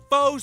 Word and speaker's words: Faux: 14 karat gold, 86 karat faux sapphire. Faux is a French word. It's got an X in it, but you don't even pronounce the X.